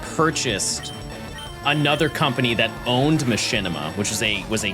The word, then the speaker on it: Machinima: Not only did you say it wrong, you don't even know where it's originally from. Mods ban that guy. It is machinima.